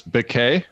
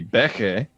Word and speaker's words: Béke: you said it right is this bouquet or Becky I mean there's an accident or syllable so it's got to be Becky there it is love me